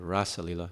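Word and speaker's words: rāsa līlā: The rasa lila, it's got a long A.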